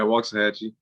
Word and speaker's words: Waxahachie: yeah, Waxahachie.